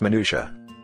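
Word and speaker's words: minutiae: the word as it is meant to be pronounced sure griffin it's minutia thank you you are welcome griffin what possible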